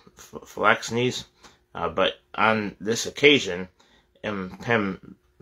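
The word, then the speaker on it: phalanxes: heavy hoplite flex knees that's why you pronounce that it's p-h-a-l-a-n-x-e-s um phyllax knees but on this occasion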